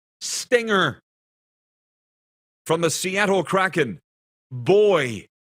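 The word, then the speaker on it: Buoy: From the Seattle Kraken, Boy. And it's spelled B-U-O-Y.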